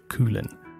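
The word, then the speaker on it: Cuillin: mainland the mountain range there on is named coolin this is spelled see you I ll I n sure it's pronounced coolin so please enjoy and we will see you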